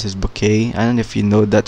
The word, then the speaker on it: Bucket: that um the the people the other people pronounce this bouquet and if you know that show bouquet but